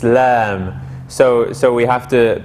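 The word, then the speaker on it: إسلام: cough we don't say and similarly lam we don't say lam it's islam so so we have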